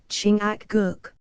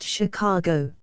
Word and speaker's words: Chingachgook: his acute Indian experts chingachgook pronounced Chicago I think has lost the trail